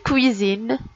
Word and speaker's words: cuisine: On a la lettre S qui se prononce Z.